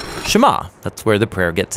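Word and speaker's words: שְׁמַע: Now the first word of the Shema is hear or listen, which in Hebrew is pronounced Shema.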